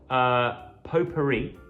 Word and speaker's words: potpourri: was in fact right with a French pronunciation of potpourri.